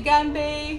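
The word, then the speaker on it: 干杯: do you say this in Chinese we say gambe gamb G oh it's not super strong it's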